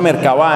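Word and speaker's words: Merkabá: impresionantes se llama merkavá se pronuncia merkavá en realidad pero no tiene tilde merkavá apuntó o hereje es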